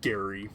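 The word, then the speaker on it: Gerry: I think it's pronounced Gary, like Gary, but it's spelt like it's like Jerry, but like with a G.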